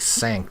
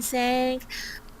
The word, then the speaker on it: think: And again, think doesn't come out right. It sounds like sank to me. Let me sank. Oh, let me think.